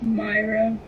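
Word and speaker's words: Mayra: Myra. Myra? Spell it.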